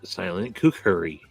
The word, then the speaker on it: kukri: Kukuri. Wait, what is it? Kukuri. It's Kind of kukri.